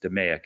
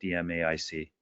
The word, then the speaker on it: DMAIC: it I've learned that it's pronounced pronounced 'da mayic not DMAIC right third question from